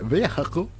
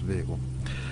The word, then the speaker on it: vehicle: the americans would say vehicle i don't know why they're saying that they won't seem to pronounce the h the vehicle although in rest of europe the hs silence is just vehicle right okay let's get